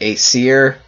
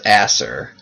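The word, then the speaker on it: Aesir: the acer warrior and i usually pronounce that a seer but i'm thinking that's pronounced asser so i guess for the rest of the episode i'll pronounce that as asser because i think that's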